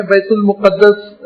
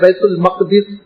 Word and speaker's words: بیت المقدس: اسی بنیاد پر ہم اردو میں کہتے ہیں بیت المقدس، لیکن صحیح عربی تلفظ ہے بیت المقدس.